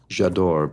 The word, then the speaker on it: J'adore: heavily I have seen ads for J'adore by Dior which would mean I adore I love in French and it obviously you know rhymes with Dior so it's it's memorable